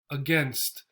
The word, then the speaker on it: against: one against against again here we have the a as a syllable by itself then against right you'll notice often the a if it's a syllable by itself at the beginning of the word and we have a lot of them is the schwa sound so get another one